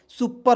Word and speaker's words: super: चलिए यहाँ पे देखेंगे SUPER, तो एस से होता है स, यू का प्रयोग छोटा हो की मात्रा, पी एस से देखिए पी से प, आर से र, और ई को इसमें साइलेंट करेंगे, सुपर हो जाएगा।